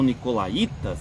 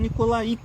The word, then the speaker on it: nicolaítas: Nunca soube, não sei se é nicolaía, deve ser nicolaía, porque tem o acento mais forte no i, né?